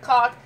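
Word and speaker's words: caulk: So, like, when you're moving out of your apartment, you, like, fill the hole with cock, and then you cover it. It's spelled...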